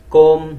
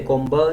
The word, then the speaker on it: calm: we don't say Kleinberg calm we don't say combo sober it's silent then